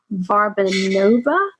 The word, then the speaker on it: Varbanova: mentor with me, Varbanova. Is that how you say it? I always struggle saying your last name. That is exactly how you say my name, girl.